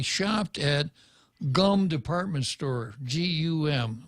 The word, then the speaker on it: GUM: at gum department store g-u-m they pronounced it goom but it's it's gum it's right right yeah